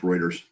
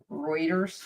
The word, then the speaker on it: Reuters: Dana Green says pronounced Reuters. Ruters is 5B. Reuters.